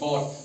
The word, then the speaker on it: thought: THOUGHT, थॉट। ठीक है, यहाँ GH से पहले क्या है? U है, U वोवेल है ना, है कि नहीं? AEIOU, U वोवेल है ना, इसलिए यहाँ भी GH साइलेंट रखा गया।